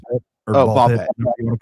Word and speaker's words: Ball x Pit: Ball X or ball pit, whatever you want to call it. I don't know if they pronounce the X or not, but you don't.